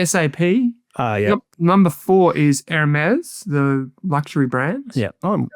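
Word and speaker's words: Hermès: Number four is Hermes, the luxury brand. Yeah. Oh, pronounced well, too.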